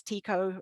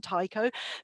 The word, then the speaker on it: Tycho: in different houses because tycho i think that's correct pronunciation rather than taiko but he basically had